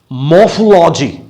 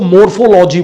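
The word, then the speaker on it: morphology: अब उसके आगे आता है, सिंटैक्स के आगे, मॉर्फोलॉजी. कई लोग इसको मोर्फोलॉजी बोलते हैं. मोर्फोलॉजी नहीं है ये, मॉर्फोलॉजी.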